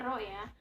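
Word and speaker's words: ρ: jenis tambangnya di situ Kayak P Tapi bacanya Rodja rumusnya massa dibagi volume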